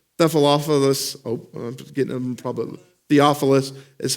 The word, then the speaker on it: Theophilus: know it says nephal off of us probably Theophilus is how you say that yes thank you